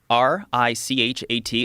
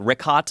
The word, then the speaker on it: Richat: I used to call it Ricot. I was mispronouncing it.